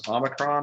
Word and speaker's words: omicron: just kind of test and see if i'm pronouncing those right one is omicron and the other was a megazit utas and